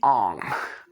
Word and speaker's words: Aang: irritating and that is the pronunciation of aang's name in the last airbender which is they call him ong and i don't know if it's actually supposed to be the proper pronunciation of his name or not i don't care it's the fact that we know him as aang we love him as aang stick to the source material people quit changing it